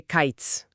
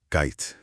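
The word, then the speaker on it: קיץ: Fruta de verano se dice kaitz. Kite. Y suena casi idéntico a ketz, que significa el fin.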